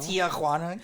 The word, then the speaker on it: Tijuana: It's Tijuana. Oh, well. Tijuana. It's not my aunt. Got to really emphasize that J though. Come on. Tijuana. It's not Tijuana.